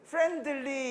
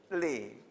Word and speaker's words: friendly: 그러니까 친절한 그럴 때 friendly 이렇게 하면 되게 좀 뭐랄까 안 친절해. 그러니까 friendly 하지 말고 D 발음할 때 혀 끝을 윗니빨 뒤에 대기만 해. friendly 이렇게 아시겠죠, 그렇죠?